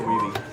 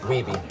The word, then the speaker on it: Wiebe: Is it Weeb or Weeby? Weeby, that's all right. Sorry. Look, most Twin Galaxies call me Weeb, so. Okay. And that's a common mistake. It's either that or Wibe.